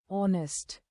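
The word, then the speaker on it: honest: जैसे नाइफ और एच अक्सर ओ से पहले साइलेट होता है। जैसे ऑनेस्ट यहां कुछ सामान्य साइलेट लेटर्स मूक अक्षर और उनके नियम दिए गए हैं।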